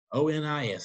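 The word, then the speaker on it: Onís: It's spelled O-N-I-S. It's John Quincy Adams and the Otis, Mr. Otis Treaty. I mean, Otis Treaty here of the time period. Okay? O-N-I-S is Onis.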